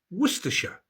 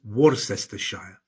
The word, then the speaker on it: Worcestershire: There are no absolute rules in English place names, but Cester is usually shortened to Ster, Bicester, Gloucester, and Shire is usually pronounced Shire, Wiltshire, Yorkshire, and Ham is usually pronounced Birmingham, Nottingham, and Ford is usually pronounced Fud, Oxford, Watford.